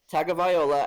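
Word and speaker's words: Tagovailoa: a tag a viola I've been saying his name last name wrong all this time I finally have heard it correctly so tua tagging viola as their new quarterback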